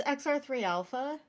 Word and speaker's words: XR3 Alpha: Oh, it's XR3 Alpha.